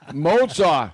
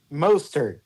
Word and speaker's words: Mostert: Mozart. How do you say his name, Trent? Mostert.